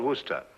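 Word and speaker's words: Worcester: We're sister. Oh, yes, I see. Yes. Lord Worster.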